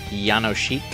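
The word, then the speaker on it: Jánošík: Yanoshik is how it's pronounced.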